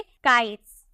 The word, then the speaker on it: kites: से पहले अगर आपका TE हो तो उसका प्रोनाउंसिएशन आपको सौ में करना है, तो इसे हम क्या बोलेंगे, काइट्स।